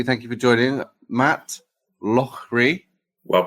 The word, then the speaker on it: Loughrey: Matt Loughrey. Well pronounced.